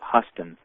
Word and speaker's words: Houston: It's a mainstream archaeologist by the name of Huston. It's spelled Houston, but he pronounces it Huston.